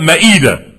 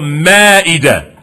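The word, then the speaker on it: مائدة: American Muslims call it ma'idah. We call it Ma'idah. We mispronounce it. But it's called Ma'idah.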